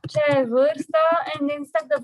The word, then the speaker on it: vârstă: Forta? Is the one that's hard to pronounce. Forta? Forta? I'm gonna type it. Vorsta. Vârstă.